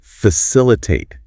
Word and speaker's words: facilitate: And a quick pronunciation tip, it's facilitate with the emphasis on that third syllable.